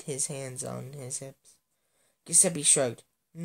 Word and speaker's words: Giuseppe: who is Italian, and apparently it's pronounced Giuseppe, not Giuseppe. It's Giuseppe.